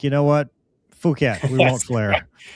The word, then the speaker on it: Phuket: P H U K E T Yeah. Phuket Hyderabad Phuket That's what they said when they were landing. They're like, you know what? Phuket, we won't flare.